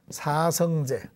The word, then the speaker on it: 사성제: 그러면 왜 사성채라고 안 하고 제라고 하느냐? 우리가 지난번에 또 배웠습니다. 우리 불교에서는 원래는 태권도 도장, 도장할 때 이렇게 써가지고 원래는 도장인데 우리 사찰에서는 불교에서는 이걸 도량이라고 읽습니다. 도량. 그지요? 자, 이것을 도장이라 하지 않고 도량이라고 읽듯이 이 사성제도 그냥 사성채로 읽지 않고 사성제로 읽는다. 아시겠지요?